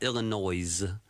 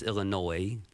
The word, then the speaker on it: Illinois: It's not Illinois. There's no noise in Illinois. It's silent. It's Illinois. So we do Illinois, not Illinois.